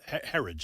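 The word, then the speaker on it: Herridge: So, um uh this I have a lot of respect for Katherine Herod. Uh Herage, that's how you pronounce her name.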